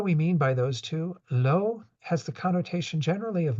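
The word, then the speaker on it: བློ: On the left is the character that is usually pronounced lo in the Wylie, which is giving you an indication of what the various letters are that are involved in that full word.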